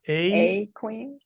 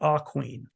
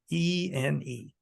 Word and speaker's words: Aquene: A queen? It's not a queen. It's actually pronounced Aquene, A right? queen. I know, but I was thinking. Aquene.